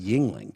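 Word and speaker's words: Yuengling: don't know you said Yingling yeah what y-u-e-n-g-l-i-n-g and that's pronounced Yingling yeah um what it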